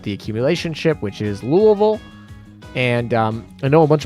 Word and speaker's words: Louisville: data mine premiere, but if you actually go to Kentucky, that is actually how they pronounce Louisville. It's not Louisville or Louisville. Louisville is another one I've heard. A lot of Easterners will say Louisville. But technically in Kentucky, they'll say Louisville.